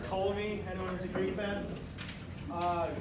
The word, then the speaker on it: Ptolemy: The P is silent, like pterodactyl. P in pterodactyl. Or Ptolemy, anyone who's a Greek fan?